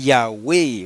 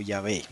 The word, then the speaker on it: Yahweh: Original, Yod, He, Waw, He, que es una palabra de 2 sílabas que normalmente se lee Yahweh o Yahvé, como hemos visto por toda la evidencia presentada y veremos aún más.